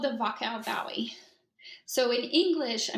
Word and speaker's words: Wachau: Yeah, it's called the Wachau Valley. So in English, I mean, it's spelled with a W. Pronounce that. But yeah, in German, they pronounce it V, Wachau.